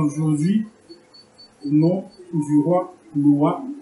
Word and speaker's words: Nowa: Comme il a été dit, je suis Nathaniel Saba et je vous parle aujourd'hui au nom du roi Noah Amani. Noah s'écrit N-O-W-A, Amani s'écrit A-M-A-N-I.